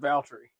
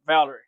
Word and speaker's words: Valtteri: need to be like Valtteri. Yeah, it's because I know even though I'm hearing Valerie, I know there's a little silent T in there where you're going Valtteri, but it's not what anybody hears, and it's not how.